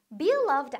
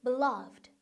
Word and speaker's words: beloved: 강세가 어디 있는지 잘 보세요. 이거 강세 바로 이음절에 있습니다. 그러니까 beloved 아니고 beloved, beloved. 그죠? 이음절에 강세가 있어요.